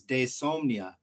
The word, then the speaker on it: Diesomnia: it was actually uh two words which was desomnia when you pronounce it so it's still spelled d-i-e insomnia and we just put it together as one word and called it dysomnia and kind of gave it the meaning of